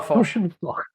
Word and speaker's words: Foch: It's pronounced Foch. Oh, Foch. Okay. Yes, but if you say Foch, then you only need to change the vowel sound a little.